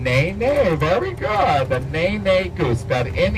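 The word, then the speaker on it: nene: his word the N NE very good the ne ne Goose that in e ne pronounced ne ne and the ne goose live on the slopes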